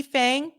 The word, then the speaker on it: Fang: shout out to Lee Fang I think it's pronounced Fong Lee Fung shout out